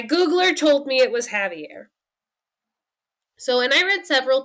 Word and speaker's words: Xavier: going to start with javier which when i read it it reads like xavier but the french pronunciation is javier so if you see